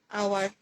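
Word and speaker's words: hour: উচ্চারণটা ও এর আসছে, এইচ এর উচ্চারণটা কিন্তু সাইলেন্ট থাকছে।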